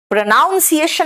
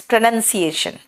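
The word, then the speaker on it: pronunciation: क भी होता है प्रोनाउंस एशन नहीं बोलना इट्स प्रोनंसिएशन उच्चारण करना वर्ब के लिए प्रोनाउंस ठीक है डी का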